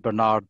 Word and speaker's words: Bernard: it bernard bernard well the governor himself pronounced his surname barnard barnard and i know uh americans pronounce it bernard but use whichever version